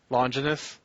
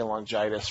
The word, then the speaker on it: Longinus: And he decides to get the guy to stab him with the spear of how do you pronounce it? Longinus? Longinus. I want to say Longitis for some reason.